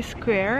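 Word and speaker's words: Saint-Louis: here at St Louis square and here they pronounce it as squa St Louis right St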